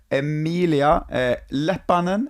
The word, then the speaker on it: Emilia Leppanen: guest uh it's uh emilia lapanen is that correct you said it right yes perfect um me